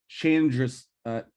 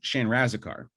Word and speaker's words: Chandrasekhar: And it's directed by Jay, I want to make sure I pronounce this right, Jay Chandrasekhar, Jay Chandrasekhar, who of Super Troopers fame.